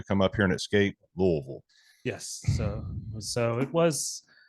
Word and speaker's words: Louisville: Louisville Kentucky and that's how you say it Louisville for anybody that's on the fence that's the correct pronunciation no they uh you know DeVille for